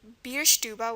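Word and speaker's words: Bierstube: it out beer stuba you were probably wondering why I was pronouncing theba again the schwa at the end is going to be an e we saw shoden frea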